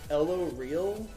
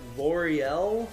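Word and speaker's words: L'Oréal: what was the thing i really butchered one time i was like ello real oh it's like l'oreal we were talking about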